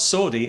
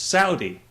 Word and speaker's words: Saudi: It's not Saudi, it's Saudi.